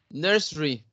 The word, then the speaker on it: nursery: Nursery. Nursery, nursery. Nursery. Exactly, nursery. 2 syllables.